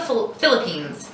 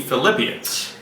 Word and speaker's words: Philippians: Since Philippians sounds like the word flip your hand from palm up to palm down to help you remember Philippians.